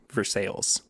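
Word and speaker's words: Versailles: I kid you not this is what the name of the town is even though it's spelled Versa verses yeah so we have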